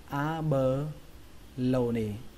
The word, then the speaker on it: abalone: Bào ngư thì các bạn dùng từ này, trọng âm của từ này rơi vào âm thứ ba đó là âm lâu trong từ lâu đấy, lâu ra đấy. Và một phần trọng âm rơi vào âm đầu tiên đó là âm a, các bạn đọc là a bờ lâu nỉ, a